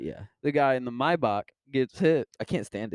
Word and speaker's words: Maybach: It's how it's pronounced. Oh, Yeah. it's not Maybach. No, it's not Maybach. Everyone thinks it's Maybach. It's Maybach. It's because everybody says Maybach. Yeah, Okay. yeah, but it's Maybach.